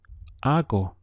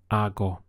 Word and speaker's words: hago: for I make is Argo Argo the H is silent so your pronunciation starts from here Argo how would you